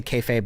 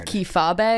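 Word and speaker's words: kayfabe: shoot um and then I'm going to say kayab which is just another word for when it is which I pronounced as kab the other day to Dan and he very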